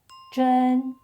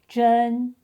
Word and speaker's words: 珍: stay the same, but the tone changes from the third to the first. So, (珍) it is pronounced zhēn. zhēn Not exactly the same to the phonetic component (㐱) but still very helpful, isn’t it?